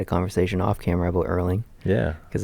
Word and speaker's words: Erling: Yeah, we had a conversation off camera about Erling. Yeah. Because his name rhymes with curling.